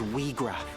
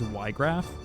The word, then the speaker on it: Wiegraf: I have always pronounced this man's name as Ygraf, not Weegraf. I don't know why, but Ygraf? Because I thought in German the IE is I, like Ygraf?